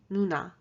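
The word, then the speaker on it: 누나: the first word is older sister and it's pronounced nuna nu um if you're trying to memorize the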